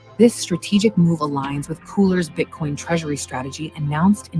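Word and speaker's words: KULR: I think I called it Curl, but it is apparently Cooler.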